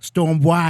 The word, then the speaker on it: Stonebwoy: Stonebwoy. Did I say it right? Did I say it right? It. Perfectly said.